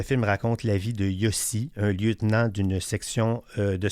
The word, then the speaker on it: Yossi: Alors, je veux vous parler du film Yossi et Jagger. Ça s'écrit comme ça se prononce, Y-O-S-S-I, et Jagger comme Mick Jagger, du réalisateur Eitan Fox, un cinéaste gay israélien né à New York.